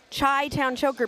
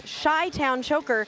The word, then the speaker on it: Chai Town Choker: Chai Town Choker because you say it's Chy Town Choker, but literally our name pronunciation says Chai, not Shy Town Choker, and that was written to us from Chai Town Choker.